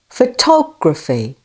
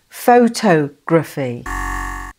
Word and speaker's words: photography: Photography. Photography. The other two vowel sounds take the weak schwa sound. Also, the spelling ph is always the sound f. Okay? Photography. Transcription B sounds like this. Photography.